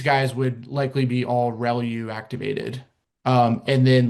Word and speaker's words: ReLU: The the way you pronounce this is called relu. So relu r e l u.